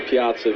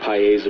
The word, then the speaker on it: Piazza: do you pronounce it well I started uh preferring Piazza because a lot of people would kind of drag out and Piazza I even heard pieza before when I was a kid so kind of like